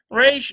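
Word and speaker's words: ריש: Resh does have a little bit of a trill, you'll notice, in the pronunciation. Resh, sort of like that. I'm giving an extra emphasis than what it really is, but it's very slight.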